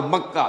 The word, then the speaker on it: مکہ: جو بکہ میں ہے۔ بکہ اور مکہ یہ ایک ہی لفظ ہے۔ تورات میں بکہ کا لفظ آیا ہے، قرآن مجید میں مکہ۔ یہ تھوڑا فرق جو ہے یہ تلفظ کا ہو جایا کرتا ہے مختلف زبانوں کے اندر۔